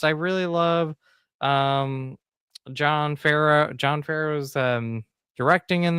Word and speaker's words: Favreau: I think I pronounced his last name right. Favreau.